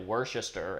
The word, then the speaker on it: Worcestershire: extreme example because like gordon ramsay just refers to a worcester sauce but i'm like well what does your bottle say because mine if you pronounce the whole thing is like worcester and then there's a shire at the end so it's like four syllables i thought that was